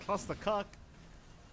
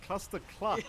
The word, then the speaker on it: Cluster Cluck: I realize I mispronounced it again, by the way, Jonathan. I said something inappropriate. Cluster cluck is what I was meant to say.